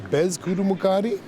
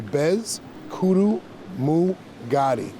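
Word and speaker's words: Peskotomuhkati: The correct way to say it is Bez Kudu Mukadi, and I like breaking it down syllable-wise, so Bez Kudu Mugadi.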